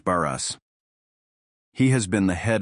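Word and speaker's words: Barès: It is pronounced Baras.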